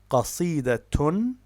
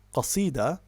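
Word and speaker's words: قصيدة: So, for example, the word is qasidatun. Qasidatun. So, what its pausal form is qasida, 3 syllables, but in classical Arabic, when we have case marking, we read it as qasidatun, which gives us 4 syllables, or al-qasidatu, which again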